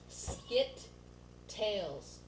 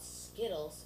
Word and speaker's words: Skit-tales: skills no no no it's pronounc skit tails ok because there's a skit and then it's a tail like it's sort of it's weird but it's two words it's not skles it's tails you get it yeah